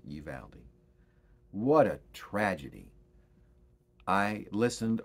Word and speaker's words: Uvalde: again about the shooting in south texas in uvalde that's how it's pronounced you've aldi what a tragedy i listened over the weekend